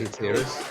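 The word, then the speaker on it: Hatiras: I've always called them Hatteras. Is that how you say it, or? Yeah, I say Hatteras. Yeah, right, Hatteras. okay.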